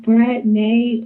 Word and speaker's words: Brattnae: Basically, you could just call me Brattnae or.